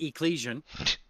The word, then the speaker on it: Ecclesian: Well, you pronounce it Ecclesian, and don't worry, I get that question a lot. So here's what happened: is the Greek word for church or community is ekklesia. Ekklesia. So it should be ecclesian, right?